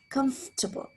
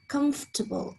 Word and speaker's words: comfortable: with other words too how would you pronounce this comfortable you probably said comfortable why there is nothing wrong with saying it this way a native could probably reduce this to comfortable again removing one of these syllables this happens